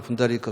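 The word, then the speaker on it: puṇḍarīka: 그래서 이제 묘법연화경이 사따르마 분다리카 수토라니까 범어에서는 이 D를 시옷으로 발음하니까 P는 쌍비으로 발음하죠. 분다리카 이렇게.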